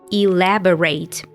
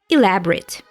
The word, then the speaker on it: elaborate: is detailed and complicated note the difference in pronunciation here elaborate as a verb so four syllables elaborate and elaborate as an adjective only three syllables elaborate check these two examples